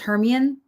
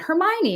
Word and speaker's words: Hermione: Harry Potter books and I just thought it was Herian was Hermeion. Herion was her name and then they went Hermione and I was like who in the hell Hermione that your imagination's going.